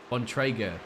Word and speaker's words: Bontrager: Bontrager, my friend. That's how we need to be pronouncing his name. As spelt.